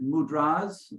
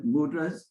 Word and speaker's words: mudras: and we pronounce it mudras rather than mudras so the accent is on the last day the gestures of